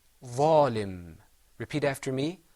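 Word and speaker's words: ظالم: Am I bunching my lips together, bringing them together? That means it's going to be mufakham.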